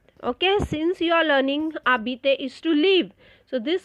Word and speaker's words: habiter: Now here you are going to learn the verb, le verbe habiter, to live. Now it is same like er we have done, but one thing you have to know is as h is silent, so it will be